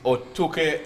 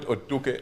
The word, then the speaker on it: Otuke: The Honorable Paul Omara, he is Otuke MP. You know, I like the true pronunciation of that constituency. It is not Otuke, as some people say. It is Otuke.